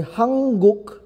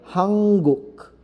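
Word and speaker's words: 한국: hanguk ' ba sir Bakit nga ba ang basa diyan ay hanguk dahil pag magkasunod ang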